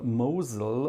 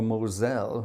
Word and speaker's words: Moselle: and the and the river Mosul or Moselle, however you want to pronounce it.